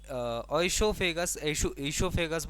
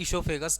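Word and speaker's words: oesophagus: उसके बाद जो आपकी ग्रास नली होती है, ग्रास नली यानी जो आपकी ईशोफेगस बोलते हैं इसको, ओ साइलेंट होता है, ईशोफेगस नाम देते हैं इसको, है ना।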